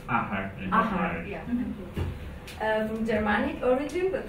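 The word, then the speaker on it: athair: It's pronounced ahar.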